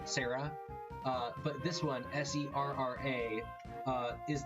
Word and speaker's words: Serra: Sarah level?